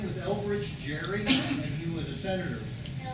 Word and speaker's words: Gerry: His name was Elbridge Gerry, and he was a senator.